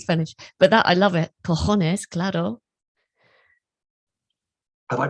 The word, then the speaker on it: cojones: Cojones, claro. Have I pronounced it correctly?